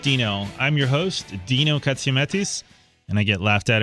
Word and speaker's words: Katsiametis: Money Matters with Dino I'm your host Dino ktis and I get laughed at every time I